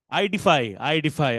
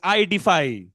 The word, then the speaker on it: IDfy: growth lead at IDFY how do we pronounce it I'm really curious IDFI I'm not Shakespeare so I'm very open in terms asking it's ID defy all right superb thank